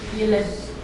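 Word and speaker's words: ילד: Okay, remember you have a double E, so the emphasis goes on which syllable? The first. First syllable. Okay, usually the emphasis goes on the final syllables. Okay, but because you have a double E taking place here, it goes on the first syllable.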